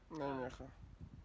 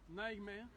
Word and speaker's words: Nijmegen: Nijmegen. Nijmegen. Nijmegen. C'est difficile à prononcer, mais ça s'écrit Nijmegen.